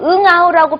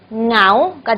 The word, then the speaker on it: เหงา: เหงา 마이 크랍 자, 여기서 응아우라고 표시를 했는데요. 사실은 이 발음을 하실 때 한 번에 발음을 해주셔야 됩니다. 그래서 응아우가 아니고 ngā우가 되는 거죠. ngā우, 외롭다. ngā우, 외롭다. 응아우 이렇게 하지 마세요. ngā우 하셔야 됩니다.